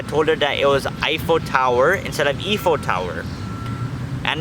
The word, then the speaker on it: Eiffel Tower: And she says Eiffel Tower, okay guys? She pronounces it Eiffel Tower. I told her that it's not Eiffel Tower, it's Eiffel Tower.